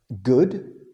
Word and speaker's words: good: es sonido largo, porque si tomamos el ejemplo de la palabra good, ok, en inglés, G-O-O-D, esto suena más como good, no es good, como food, ok.